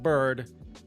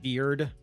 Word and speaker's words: Bard: I'm pretty sure it's pronounced Bird. I swear, though, if it's pronounced something weird like Beard, sure, whatever. But I'm like, this is pronounced Bird.